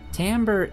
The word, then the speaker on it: timbre: dynamic of the sound Tambor is an interesting term it's one that many people are not familiar with much less able to pronounce properly but Tambor refers to